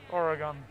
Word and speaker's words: Oregon: are still the oregon fans out there right oregon i said it right this time okay good